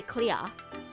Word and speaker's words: clear: I just said the word clear. With the R, like, pronounced. But Australians would say clear. We don't say R. We don't say R's.